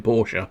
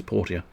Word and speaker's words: Portia: like you're inside a stripper my time in porsche it was delightful um probably bastards anyway i'm